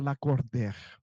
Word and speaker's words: Lacordaire: E ela foi disse, seu nome escreve Lacordaire e pronuncia Lacordaire.